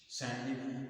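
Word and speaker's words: sandwich: लोग सैंडविच सैंडविच तो इसका सही उच्चारण है सैंडविच का ये सवि सैंडविच इसका उच्चारण है सवि ड का उच्चारण होता सवि बोला जाता है तो स और ये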